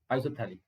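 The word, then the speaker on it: isophthalic: और अगर एक यहाँ पर हो और एक यहाँ पर हो तो इसको बोलते हैं आइसोथैलिक, पी साइलेंट होता है, तो आइसो, PHTHALIC, आइसोथैलिक।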